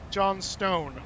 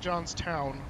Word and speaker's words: Johnstone: Johnstone, not Johnstown.